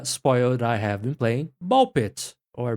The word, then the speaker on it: BALL x PIT: playing Ball Pit, or Ball Cross Pit, or however you want to pronounce it. It's like Hunter, the X is silent. Yeah. I like how Tom Clark says it, Ball X Pit, because it's so silly.